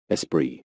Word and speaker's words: Esprit: clothing footwear accessories jewelry and housewares under the Esprit label so how do you go about pronouncing it in English espri and in German ESP we are looking at